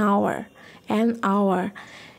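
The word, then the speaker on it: hour: অ্যান আওয়ার, এখানেও কিন্তু এইচের উচ্চারণটা সাইলেন্ট।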